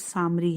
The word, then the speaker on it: سامری: اس کا عربی تلفظ سامری ہے.